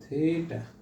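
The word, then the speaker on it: theta: হ্যাঁ, এটার উচ্চারণ কিন্তু থিটা। হ্যাঁ, থিটা। তো আমরা অনেক সময় থিতা বলি আর কি।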